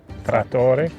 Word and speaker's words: Trattore: So 3 generations later, you've named your cider line, the alcoholic cider line, Trattore, Italian for tractor. Did I pronounce that correctly? Trattore.